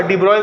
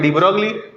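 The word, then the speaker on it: de Broglie: इसलिए हम लोग हम लोग भी क्या डिब्रॉय को बोल देते हैं डी ब्रोगली लिखिए द वेवलेंथ द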